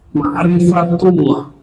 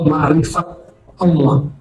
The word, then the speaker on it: ma'rifatullah: Ma'rifatullah atau ma'rifat Allah. Bacanya ma'rifatullah ya.